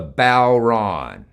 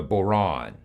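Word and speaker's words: bodhrán: think about drums i've got this drum the balron or the boron the balron that's spelled b-o-d-h-r-a-n most drums have two very important parts the head and the shell on the bauran this is the head shell head shell and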